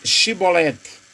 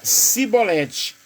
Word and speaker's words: Shibolete: E dizendo ele: não, então lhes diziam: dize, pois, Shibolete. Porém ele dizia Sibolete, porque não podiam pronunciar bem.